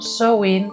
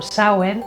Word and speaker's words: Samhain: Samhain, pronunciado Samhain, es la palabra del gaélico irlandés que designa el mes de noviembre, mientras que en gaélico escocés, Samhain, pronunciado Samhain, designa la fiesta de All Hallows, el 1 de noviembre.